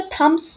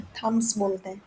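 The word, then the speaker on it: thumbs: happy sucking हि थम्स अच्छा थम्स नहीं बोलते इसमें बीना साइलेंट होता है थस ठीक है तो कहते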